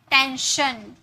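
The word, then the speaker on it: tension: टेंशन, श, टेंशन, okay.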